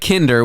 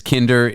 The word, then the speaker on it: Kinder: joke I've ever written because Kinder means child in german yes I'm aware I'm aware and it rhymes with Tinder come on anyone any